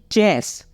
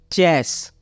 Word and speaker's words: chess: जैसे कि चेस, CHESS, चेस। यहाँ पे सी के बाद एच है, इसलिए इसका उच्चारण क्या कर रहे हैं? हम च कर रहे हैं।